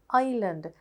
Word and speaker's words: island: it is pronounced as island so which letter is silent s is silent then we have should